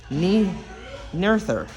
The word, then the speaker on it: Noether: Actually, I believe it's pronounced Noether.